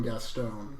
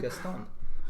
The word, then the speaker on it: Gaston: I stopped listening after you pronounced his name Gaston. So, Gaston.